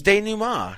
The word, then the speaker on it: denouement: It's denouement.